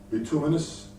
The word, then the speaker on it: bituminous: They move to the bituminous. Is that how you pronounce that?